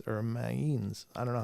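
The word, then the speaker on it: Mainz: was considered a history changing invention died in minin or minin I don't know how to pronounce that Mains M all right there you go that was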